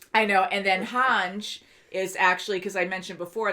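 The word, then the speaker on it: Hange: like it sometimes but hanj is han ji zoe and then burt holt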